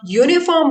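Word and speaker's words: uniform: यूनिफॉर्म बोलते हैं, यूनिफॉर्म, जब आप यूनिफॉर्म बोलते हैं तो क्या आवाज निकलती है? यू। य की आवाज आती है। एक बार आप प्रोनाउंस कीजिए खुद से, यूनिफॉर्म बोलिए, तब आपको अच्छे से समझ में आ जाएगा। यूनिफॉर्म बोलिए तो यू, य की आवाज निकल रही है, और य जो है वो कॉन्सोनेंट है, व्यंजन है, और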